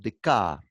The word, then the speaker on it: Descartes: Se escribe Descartes, pero se pronuncia en francés Descartes.